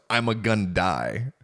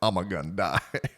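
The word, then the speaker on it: Ima-Gun Di: It's pronounced I'm a Gundy because he was created for a single episode of the Clone Wars in which he dies. So, they named him I'm a Gundie.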